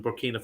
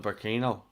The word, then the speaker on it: Burkina: to see if someone who knew who that Burkina Faso player was. How do you spell it? I got B-U-R-K, Burkina, it's I-N-A, B-U-R-K-I-N-A, and then F-A. Was I calling them Burkino?